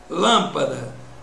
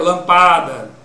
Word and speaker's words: lâmpada: Na palavra lâmpada, quando você separa a lâmpada, você tem lâmpada. Veja, lâmpada. Se eu prolongasse o pá, ficaria lampada.